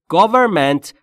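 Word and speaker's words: government: در موردش صحبت می‌کنن گورمنت اگر دقت بکنید انش به صورت بسیار مخفف تلفظ میشه یا تو دماغیم گورمنت یعنی حکومت پیتر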